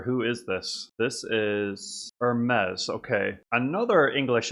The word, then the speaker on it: Hermes: Actually, maybe his name is pronounced Hermes because maybe it's not pronounced the same as the luxury brand.